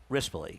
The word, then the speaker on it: Rispoli: Rispoli, yes.